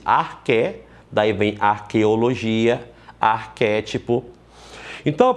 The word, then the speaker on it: arché: Você escreve arché, A-R-C-H-E, acento no E, pronuncia-se arché, daí vem arqueologia, arquétipo.